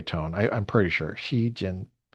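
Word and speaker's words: Xi Jinping: I I'm pretty sure Xiinping Xiinping. I think that's how you say it. I think it's ping as in low tone. Ping.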